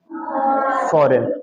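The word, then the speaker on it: foreign: तो फॉरेन, अब देखें फॉरेन में जी आया लेकिन इसकी आवाज नहीं आई, तो इसमें जी क्या हुआ? साइलेंट। हाँ, तो इसमें सही क्या हमारे पास वर्ड है? फॉरेन।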